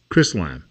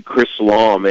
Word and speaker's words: Chrislam: is something you call Chris lon I think am i pronouncing that right it's actually chrislam and it's a word